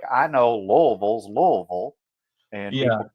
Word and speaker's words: Louisville: Like, well, depends on where you were raised because it's just like I know Louisville's Louisville, and Yeah. people keep telling me it's Louisville, and it's not. It's Louisville.